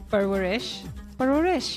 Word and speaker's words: Parwarish: And today we are covering episodes 4 through 6 of Parwarish, the famous... No, I said it right? Parwarish.